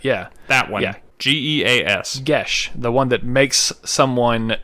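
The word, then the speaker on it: Geas: never get to cast which i've always said gaos but i guess it's gesh i guess show yeah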